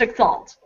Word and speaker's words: X Plus Alt: Written X plus sign alt, pronounced exalt, like the word.